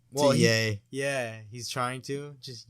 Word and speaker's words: Ye: Well, to yay. Yeah, he's trying to. Just yay. He's trying to. That's how you pronounce it?